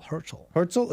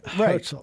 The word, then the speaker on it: Herzl: Herzl. How do you say his name? Theodor Benjamin Herzl. Herzl, it's H-E-R-Z.